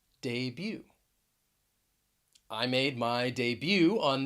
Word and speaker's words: debut: womb we're going to talk about a silent t that you will find at the end of some words so the first word that i want to pronounce for you is debut debut i made my debut